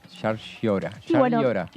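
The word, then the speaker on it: Llaryora: Martín Sciarriora. Así se pronuncia.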